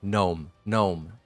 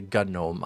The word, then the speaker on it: GNOME: Oh, by the way, gnome. It's not GNOME. I'm not going to say GNOME. I'm going to say gnome. Because where I come from, it's called Cape Breton, we pronounce the G silently.